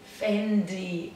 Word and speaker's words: Fendi: Fendi. Ó, só muda o D, tá vendo, gente? Não é Fendi, É Fendi. Sei de novo.